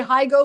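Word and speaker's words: Higgo: garrick he hugo hego i want to say hi go because it's h-i-g-g-o but it's higo garrick hego to finish in the top 40 at plus 150.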